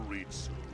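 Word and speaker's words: Ritsu: General Ritzu, you called for me, your majesty. That's just the Japanese pronunciation of Ritz.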